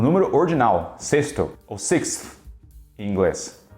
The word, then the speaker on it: sixth: Então muita gente acaba pronunciando esse TH no final como se fosse um T simples, sixth.